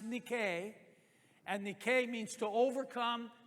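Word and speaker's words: Νίκη: That is a Greek word. It's actually pronounced Nike.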